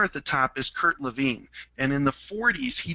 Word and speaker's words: Lewin: group dynamics and you you may have known him as Kurt Lewin but in uh in Germany where he was living they pronounced at Levine his he was a